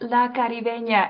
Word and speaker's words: La Caribeña: And it's a fun little exercise whenever I'm telling people it's pronounced La Caribeña, and we do that little song and dance